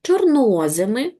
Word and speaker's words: чорноземи: Тож чорнозими, зверніть увагу наголос на о.